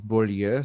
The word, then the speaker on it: Beaulieu: Well, my last name, if you were going to pronounce it the right way, is Beaulieu.